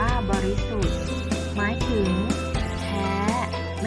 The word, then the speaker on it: บริสุทธิ์: ประกอบ สลัก นะ คะ คำ ว่า บริสุทธิ์ อ่าน ว่า บริสุทธิ์ หมาย ถึง แท้ ไม่